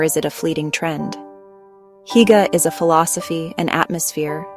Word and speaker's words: hygge: We call it higa, pronounced huga.